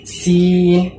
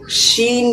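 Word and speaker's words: سين: 99% student সবাই বলতে পারে সিন সিন। হলো, ভুল কি? সিন ছাড়া কিছুও বলবেন আলাদা আলাদা ধরনের, সেটা ভুল হবে। যদি আমি ফিন বলি, যে বার করে ফিন, এটাও ভুল। যদি আমি সিন না বলে শিন বলি, শিন, সাউন্ড আলাদা হচ্ছে না, শিন বলি, তবুও ভুল হবে।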